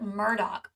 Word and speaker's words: Murdaugh: still trying to figure out about this Alec Murdock situation it's actually the correct pronunciation which is hard to reconcile with the